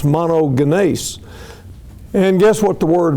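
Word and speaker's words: μονογενής: is I could put it up here is pronounced monogan and guess what the word means of a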